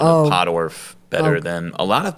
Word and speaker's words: Pottorff: You you actually nail the pronunciation of podorf better than a lot of people do actually.